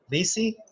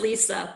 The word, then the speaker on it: Lise: Lisi, Jersey Shores, and love Aruba. Okay, well, can't complain about that. Yeah, it's pronounced Lisa, but nobody Lisa. ever says it correctly.